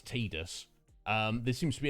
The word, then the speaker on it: Tidus: exactly yeah indeed post i always called him uh tidus uh i just assumed that was the pronunciation when i played the game back in the day it's only since just before we started this um play through of uh the game that it was brought to my attention that the correct actual pronunciation is tidus um there seems to